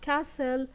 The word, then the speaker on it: castle: write three words that have a silent T now we have listen we have castle and whistle write four words that